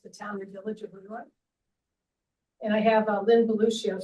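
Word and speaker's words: Le Roy: area, which is the town and village of Leroy. And I have Lynn Beluccio sitting on my shoulder telling me the proper pronunciation of Leroy is Leroy.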